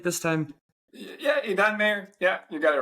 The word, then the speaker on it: Idan Meir: Did I pronounce it right this time? Yeah, Idan Meir.